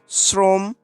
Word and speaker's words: শ্রম: তারপরে রয়েছে স্রোত, এই একই রকমভাবে শ্রম, শ্রমে প্রথমে অ এর সাথে র ফেলা আছে, সেজন্য আমরা শ্রমে ওকার চলে আসে, শ্রমে ওকার উচ্চারণ করে ফেলি।